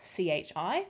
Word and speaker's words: chi: greek chi symbol and as you can see it's spelt c-h-i but it is pronounced chi just to get